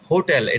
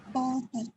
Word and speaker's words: hotel: হোটেল, এটা টি হবে, এটা কি হবে? টি হবে। দেখো হোটেল, হোটেলের মধ্যে এইচটা উচ্চারণ করা হচ্ছে নাকি হচ্ছে না বলো? Hotel.